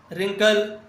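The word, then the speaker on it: wrinkle: बी का 85 वि letter is silent in रिंकल rape wrist तीनों में क्या साइलेंट है? तीनों में डब्लू साइलेंट है। जब भी आर से पहले डब्ल्यू लिखते हैं तो डब्ल्यू साइलेंट होता है।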